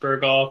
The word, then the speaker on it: Burgal: so my name's my last name is pronounced burgal if you ever need to